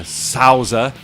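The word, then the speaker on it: Souther: rao taki jaggi shin uh ray judah uh sauza that's how you pronounce it i don't know why they've spelt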